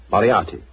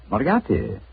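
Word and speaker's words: Moriarty: I'll have to begin calling it the way it looks m o r i a r t y mariati mariati I shall remember that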